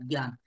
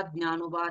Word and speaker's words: ज्ञान: माऊली ज्ञानेश्वर असं म्हणतात आपण महाराष्ट्रानुसार ज्ञ म्हणतो ज्ञानेश्वर पण व्याकरणानुसार त्याचा उच्चारण काय आहे तर असं त्याचं उच्चारण आहे ज्ञान कारण की तो ज आणि मिळून तयार झालेला आहे मग प्रश्न